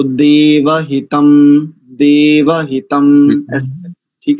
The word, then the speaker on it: देवहितं: ना हो गड़बड़ तो देव हितम देव हितम ठीक है ठीक है आपके उच्चारण में दो त्रुटिया थी दे हितम आप बोल रहे थे एक तो इसको देव हितम करेंगे दूसरा शरद नहीं करेंगे